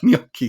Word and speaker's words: gnocchi: He's like, he asked Google how to pronounce gnocchi, and gnocchi said it, and he goes, even an American robot can pronounce it properly. I was dying. It's hilarious. Yeah, this woman was saying yonki because I saw everybody was writing yonki, and